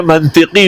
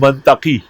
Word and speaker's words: منطق: اور کہتے تھے میں منطقی ہوں، منطقی۔ تو میں نے بخاری کے ختم میں کہا کہ لفظ منطق ہے، منطق نہیں ہے۔ علمنا منطق الطیر، میں